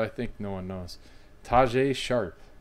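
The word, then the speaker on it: Tajaé Sharpe: think no one knows Taj a sharp that's how you officially pronounce his name Taj a sharp Aaron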